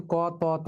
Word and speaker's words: কত: যেমন এই যে কত কিন্তু ক তত নয়। উচ্চারণ হয় কত।